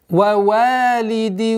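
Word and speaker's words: ووالد: Вавалиди вама валад. Вава. Вава. Ошибка. Вава. Вава. И не ва, и не ва. Середина. Ва. Валидин.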